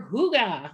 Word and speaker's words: hygge: right get ready for hygge okay that's how you say that i know it's spelled h-y-g-g-e but it's like they said it's a hugo when you say it um this is